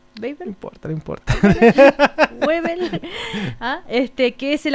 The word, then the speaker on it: Weibel: denunciarlo estamos conversando con el periodista Mauricio beel pronuncio bien tu apellido beel No importa no importa webel Ah este que es el autor de traición